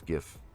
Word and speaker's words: GIF: Little, it's like the Homer backing away into the bush gif, you know. Did you say GIF? That's how that's how the original creator pronounced it.